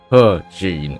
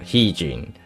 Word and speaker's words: He Jin: He Jin, not He Jin. So it's pronounced as her, with an R, a visible R.